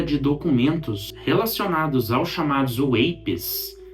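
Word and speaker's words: UAP: Nesse dia 7, uma nova leva de documentos relacionados aos chamados WAPs, é assim que se pronuncia essa sigla, foi disponibilizada ao público.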